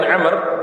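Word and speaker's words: عمرو: Umar berarti Ibnu Umar tapi kalau Abdullah bin Amr adalah Abdullah bin Amr Bin Hafiz Hai kabel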